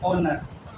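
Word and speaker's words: honour: Pronunciation कैसे करोगे? ऑनर।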